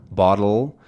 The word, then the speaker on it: bottle: So this is a bottle, and you can tell that it's a syllabic consonant because when I say dul, dul, my tongue actually doesn't remove itself from the top of my mouth. Bottle, bottle, my tongue stays from the d to the ul.